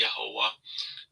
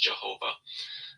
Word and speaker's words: Yehovah: Okay, his view is that God, who he calls Yahweh, but the proper pronunciation is Yehovah, or as we would say in English, Jehovah.